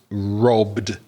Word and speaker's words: robbed: Earlier we mentioned the verb to rob when you're adding an ed d on that to make it past simple. So you've got the voiced robbed sound.